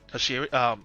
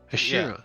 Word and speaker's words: Hashira: Hashiri. What's it called? Hashiri, I believe. Hashiri? Hashira. Yeah. Ashima. Anyways, let's okay. Let's just say Hashira. Thank you. Yeah, one of the best Hashiras ever to live.